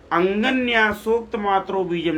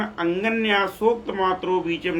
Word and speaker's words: अंगन्यासोक्त मात्र बीजम: साधक लोग जो है अंगन्यासोक्त मात्र बीजम लिखा हुआ है क्या लिखा है अंगन्यासोक्त मात्र बीजम लेकिन साधक गण इसका उच्चारण क्या कर देते हैं साधक गण इसका उच्चारण अंगन्यासोक्त मात्र बीजम न करके अगन्या सोक्त मात्रो बीजम कर देते हैं।